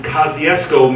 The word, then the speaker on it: Kosciuszko: New York, or down in Mississippi, as they pronounce it, Kosciuszko, Mississippi, which is the birthplace of Oprah Winfrey.